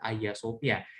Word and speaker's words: Hagia Sophia: diri dari tuh punya namanya adalah ayasofya tulisannya Hagia Sophia Tapi bacanya adalah ayasofya ini tepatnya persis di